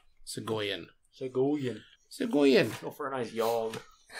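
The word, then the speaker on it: Segojan: s-e-g Earth caller sagogen I feel like the J would be a a y sound so go in go for a nice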